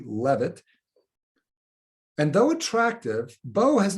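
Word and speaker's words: Leavitt: is sarah i believe that last name is pronounced leave it l-e-a-v-i-t-t or it could be levitt and though attractive beau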